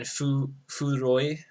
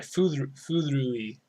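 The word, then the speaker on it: 古い: We got so I said atarashi is new, and then furoi or sorry furui. It's really hard to pronounce because it's a double like oo like sounding uh, syllables.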